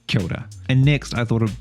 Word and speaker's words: kia ora: for hello which is kyota you might have seen it written as kia ora but it's pronounced kyoda and next i thought